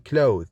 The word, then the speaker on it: clothes: in oath and the which is voiced like in clothes you must notice that in clothes it is a verb when you have the word as a noun it is pronounced as cloth with not the the same for bath and bathe bath as a noun bathed as a verb alveolar sounds are made